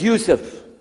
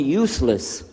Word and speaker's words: Yousef: work on it inallah my name is Yousef can you say Yousef you say you you're very good I wish you teach my wife she keeps mispronouncing it she calls me useless alhamdulillah now how many